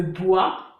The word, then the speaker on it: bois: Les mots qui finissent par OIS, OIA, comme le bois ou un chinois, ok, on ne prononce pas le S. Les mots qui finissent par